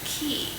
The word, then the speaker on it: quay: I said, but actually, when it's that letter combination that way, you would pronounce it key.